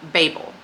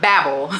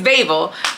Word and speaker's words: Babel: And I realize a lot of people have been pronouncing this incorrectly. The author herself calls it Babel. It's not Babel. It's Babel.